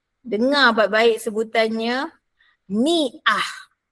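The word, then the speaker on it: مئة: 100 ialah miah. Dengar baik-baik sebutannya. Miah bukannya miat. Bukannya miat. Miah. Ah. Ah. Tak payah. Miah.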